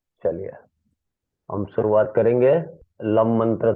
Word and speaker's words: लम: चलिए हम शुरुआत करेंगे ल मंत्र से शुरुआत करेंगे फर्स्ट फिंगर ज्ञान मुद्रा के साथ कम सीधी बैक स्टेट उसका जो उच्चारण है लम का एल एम लम उसका वाइब्रेशन व मंत्र